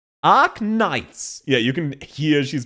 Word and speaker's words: Arknights: Again, we would say Ark Knights. She's going ark knights. And you can hear both syllables are correct. They're just split up.